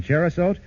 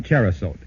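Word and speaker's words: Cherosote: Yes, 12 ingredients in Cherasote combined to give you quick and effective relief from the tickling throat and miserable coughing sessions caused by colds.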